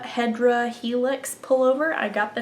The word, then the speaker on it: Hedera: have figured it out um this is my Hedra Hedera helix pullover I got the name wrong last week but it's by rosemary or